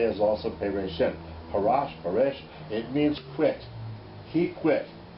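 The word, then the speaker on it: פרש: Paresh, it means quit. He quit. He quit would be who, how do you pronounce it? Parash? Parash, okay.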